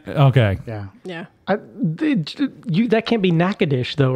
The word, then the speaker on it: Natchitoches: you got it correct or what the correct pronunciation is. Natchitoches. Wrong. Amanda? It's Natchitoches.